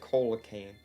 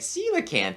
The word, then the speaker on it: coelacanth: that uh cold can't isn't it pronounced coelacanth I don't know I've always said Cola can't yeah I used to too and then I just people started talking about it online and like see the can't I'm just like how